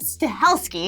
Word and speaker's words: Stahelski: can never say his name right, it's Chad Stahelski.